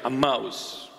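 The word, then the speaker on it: Emmaus: those two friends were walking to aous a that's a proper pronunciation a mouse those two friends that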